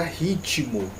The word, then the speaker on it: ritmo: Porque, olha só, a palavra ritmo tem um T mudo, certo? Só que isso na escrita. Quando a gente vai para a pronúncia, esse I ele aparece na pronúncia. Então, dá-se a entender, por isso que eu coloquei entre aspas, que essa palavra é uma proparoxítona.